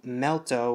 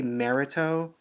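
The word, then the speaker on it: Melto: of a weird name I might say merit Oh like pronouncing the L as an R just because to make it easier for me but I'll try to say melt O or melt but it's just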